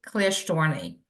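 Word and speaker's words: Klyashtorny: of course chairman uh my name is Natalie clar storney k l y a s h t o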